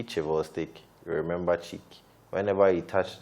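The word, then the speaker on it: Chvostek: to represent this symptom and fortunately it rhymes with cheek so you see chivo stick remember cheek whenever you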